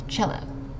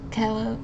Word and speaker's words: cello: not pronounced is a Kell it's a cello and again emphasizing on that first syllable okay next we have